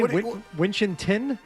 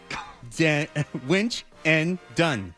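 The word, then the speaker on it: Winchendon: Well, it's a D. T. There's a D there. There's a D. Oh. Uh, witchen. Witten. Yeah. So, there's an automatic stutter in there. Winch. Winch and done.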